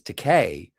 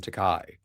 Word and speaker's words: Takei: him Koig, but George's last name is Teay, but everyone calls him Teai.